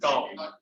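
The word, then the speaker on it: tau: It's called टॉ. टॉ pronounce as टॉ.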